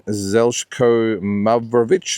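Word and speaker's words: Zeljko Mavrovic: Uh 1998 uh Lennox Lewis defended the heavyweight title uh by beating Zelko Mravich, that's how you pronounce it, on points, took a place in Connecticut.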